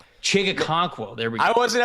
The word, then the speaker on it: Okonkwo: Okonkwo. I was not pronouncing the first K. Chig Okonkwo.